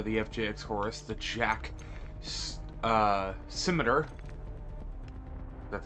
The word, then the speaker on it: Scimitar: Regardless, we are covering the new MP9 aftermarket part, or the FJX Horus, the Jack SCIMITAR, that's how it's pronounced, that's what Google says it, SCIMITAR.